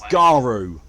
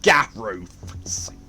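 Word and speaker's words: Garou: know what that means it's garu not japan i need to find out who's buying these bullets and why buy me some more time or guru because you know it's a french word whole thing of werewolves loop garu that's how you pronounce not garu or definitely not gaff roof all those guns aren't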